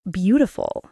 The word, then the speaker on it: beautiful: For example, beautiful, be-oo-tiful. The first part is stressed.